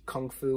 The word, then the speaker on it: kung fu: i didn't know that gunk foo was the pronunciation within cantonese chinese versus kung fu which is how we